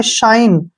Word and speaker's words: shine: अब जैसे नेक्स्ट है SHINE, इसको सीने नहीं पढ़ेंगे, शाइन।